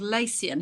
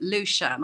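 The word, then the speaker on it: Lecien: The company, the Japanese company called Lacian, who actually they pronounce it Lushan.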